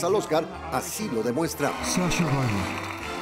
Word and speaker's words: Saoirse: Sasha Ryan. El problema es que hasta ahora muy pocos saben pronunciar correctamente su rebuscado nombre irlandés.